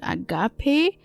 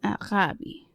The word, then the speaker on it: agape: ancient Greeks called Arabi most people pronounce it Agape as it is written in English but it's actually pronounced aabi a Greek friend of